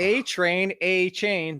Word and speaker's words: Achane: Devon It's Achane.